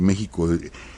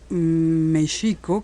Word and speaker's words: México: de México ya en México aunque se escribe con x pero se pronuncia con j con la J española Entonces el lenguaje en